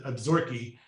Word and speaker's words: Absaroka: think are called the Absaroka. It's spelled Absaroka, but it's pronounced a little differently.